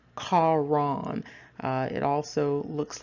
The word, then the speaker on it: Haran: And so his name is pronounced Charon. It also looks like Haran.